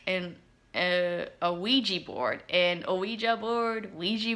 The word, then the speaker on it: Ouija: just like in a ouija board in ouija board ouija board yeah the preferred pronunciation is ouiji i hope you enjoyed